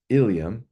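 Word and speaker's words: ilium: are a few examples ilam pronounced ilam refers to a bone in the pelvis iliam pronounced in the same way ilam is a segment of the small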